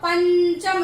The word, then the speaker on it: पंचम: अब पंचम जब आप उच्चारण कर रहे हो तो यानी कौन सा वाला आ रहा है, च छ ज झ यो। ठीक है। तो पंचम, इसमें यो वाला उच्चारण आ रहा है।